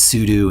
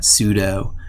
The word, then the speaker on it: sudo: know it's ubuntu and when you use sudo it's sudo and not sudo because of a super user do it's not super user do anyway we